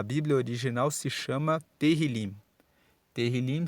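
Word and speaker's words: Tehilim: Terrilim se escreve T-E-H-I-L-I-M e significa louvores.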